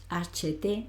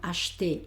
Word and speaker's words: acheter: Pronuncio, fíjate que no digo HT, sino acheter. Esta E, que no lleva acento ni nada, entonces es como casi que ni la pronuncio.